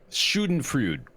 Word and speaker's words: Schadenfreude: Schadenfreude, I believe is how it's said.